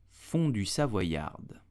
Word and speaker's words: fondue savoyarde: So how do you pronounce it correctly? You will say fondue savoyarde.